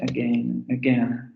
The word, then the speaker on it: again: Aquí se ve más claramente el asunto de la acentuación, ¿no? En la sílaba acentuada se va a pronunciar esta vocal, que sería la vocal semiabierta anterior no labializada, y en la sílaba inacentuada aparecería el sonido schwa.